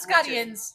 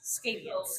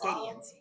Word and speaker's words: Scadians: So we have a tendency to call them Scadians. Not Scottians, Scadians. Scadians. SCADians. Scadians. If you pronounce it as it's written out.